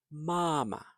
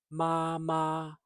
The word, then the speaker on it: 妈妈: But if the same syllable, same character repeats, then the second syllable can be light, more like māma, gēge. So it's not māma, gēge, although that's fine too. So māma, gēge.